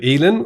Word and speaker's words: Elin: and I'm going to make sure I say elin which is the correct pronunciation of your name and yeah okay and